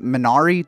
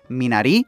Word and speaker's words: Minari: us were calling it Minari throughout the entire festival but director Lee Isaac Chong mentioned that it's actually pronounced me naughty it's based on the